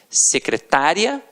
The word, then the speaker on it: secretária: e você tem secretária e você tem secretaria e aí já é o que já é diferente já não é mais uma paróquia situada a terminar de tonghua é você já tem uma pronúncia diferenciado então secretária o secretário